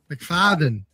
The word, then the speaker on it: McFadden: McFadden.